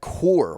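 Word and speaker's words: Kuhr: Talking about Zack Core real quick. Uh, kind of the pronunciation down here. Uh, kind of like the beer as Phil Perry says, but he'll be filling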